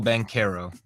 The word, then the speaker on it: Banchero: Felipe, correct me, because sometimes I mispronounce this young standout's name. It's Paolo Banchero, right? Yes, Paolo Banchero.